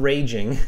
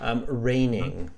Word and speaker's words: reigning: just like right the same same uh pronunciation as a rainfall like it's raining outside but different spelling so it's a homophone reigning and reigning in this case means